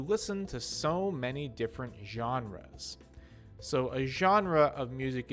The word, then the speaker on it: genres: a kind of music the word is actually comes from french so that's why it has the long j sound for the g genres just means different